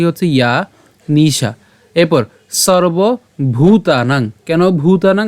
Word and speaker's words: ভূতানাং: ইয়া নিশা এরপর সর্ব ভূতানাং কেন ভুতানাং কারণ এখানে ভ আছে এবং দীর্ঘকার আছে তাহলে এটা আমাদেরকে উচ্চারণটা একটু চাপ দিতে হবে মানে ভুতানাং উচ্চারণটা এভাবে